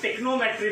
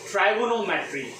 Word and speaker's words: trigonometry: Okay, तो usually कई student जो है इसका गलत प्रोनाउंसिएशन करते हैं, टेक्नोमेट्री बोलते हैं इस सब्जेक्ट को। इट इज नॉट द टेक्नोमेट्री word, we call it द ट्राइगोनोमेट्री।